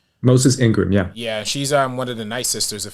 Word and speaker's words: Moses Ingram: mean I would love to see more of Moses Ingress character am I pronouncing her name correctly Moses Ingram yeah yeah she's um one of the night